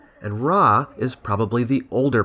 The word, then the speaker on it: Ra: who is variously called Rah or Reay why is that my understanding is that the pronunciation Reay is from Coptic which represents later Egyptian pronunciation and raah is probably the older